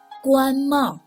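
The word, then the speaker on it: 官帽: 官帽.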